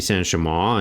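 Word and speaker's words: Saint-Chamond: up, and according to Wikipedia, that's how you pronounce it, so I'm going to keep calling it that. I continued to use the Saint Chammond and get better with it, and, you know,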